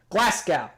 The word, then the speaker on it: Glasgow: head up carlisle dumfries uh glasgow glasgow glasgow glasgow that's how it's pronounced exit at perth take the slow roads